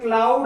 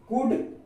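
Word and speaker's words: could: यहाँ पर देखिए इसको अगर हम एल को ना साइलेंट करके अगर इसे पढ़ते हैं तो इसे क्लाउड आता है, क्लाउड, लेकिन यहाँ पर क्या एल साइलेंट है, क्यों? क्योंकि डी से पहले एल आ रहा है, इसीलिए एल यहाँ पर साइलेंट। तो इसको क्या पढ़ेंगे? कुड, इसको पढ़ेंगे वुड और इसको पढ़ेंगे सूड।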